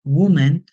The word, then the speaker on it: woman: ya no usamos women miren que es distinta la a y la e pero se pronuncia como una u Woman Who has wea many